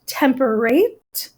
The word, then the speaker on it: temperate: are rhyming words but during Shakespeare's time with the original pronunciation over 400 years ago and British accent it was probably pronounced temper raped and date and they would have rhymed so temperate and date